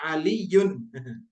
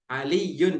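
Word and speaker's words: عَلِيٌّ: Karena ya-nya di sini ada tasydidnya. Makanya bacanya kalau rafa'nya Aliyun. Aliyun gitu ya. Ali. Pakai ya-nya ada tasydidnya.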